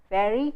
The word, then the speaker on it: very: So you say very well, but in Hindi we don't have two sounds for v, we have only one sound which is closer to the second sound of English as in well. It is v. We say Vinod, Vishal, which is like the sound in well, it's not the sound in very.